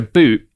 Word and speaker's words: Bout: So uh that's why we want to talk about uh Victor boot today. It's spelled B O U T by the way if anyone's looking it up.